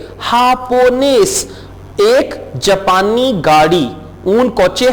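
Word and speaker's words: japonés: हापोनेस, अब स्पेनिश में जे को हम ह में प्रोनाउंस कर रहे हैं, हापोनेस।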